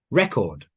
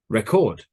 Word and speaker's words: record: ready listen to me record record present present object object so the syllable stress the stress in the word changes position depending if it's a noun or verb record present present object